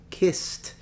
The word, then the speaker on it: kissed: the E for instance in the word kissed you pronounce e d as a t principality but yeah you